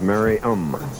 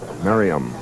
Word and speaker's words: Merriam: For years, I've been pronouncing their hometown differently from what it's really pronounced. Merriam, Kansas? It is Merriam. Merriam, Kansas.